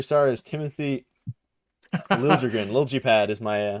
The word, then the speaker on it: Liljegren: So I think Lil G pad, I guess. Yeah. Lil G pad. Liljegren. That is a crazy way to spell it.